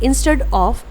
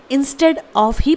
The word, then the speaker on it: instead of: तो इसे हम इंस्टेड ऑफ ही प्रोनाउंस करेंगे, जो कि करेक्ट प्रोनाउंसिएशन है।